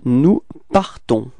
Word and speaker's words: partons: and then we get nous partons. Repeat. Nous partons. Okay, so final S is not pronounced as usual, so you only need to pronounce at the end this nasal, so O-N, on, alright, nous partons, repeat.